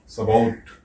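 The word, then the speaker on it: Shavuot: जैसा कि हम लोग देखते हैं वे सबाउट के रूप में इसे उच्चारण करते हैं, SHAUAVUOT सबाउट।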